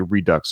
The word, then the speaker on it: redux: As a French person, the French people say redux, at least when it comes to that word. So there you go. Redux it is.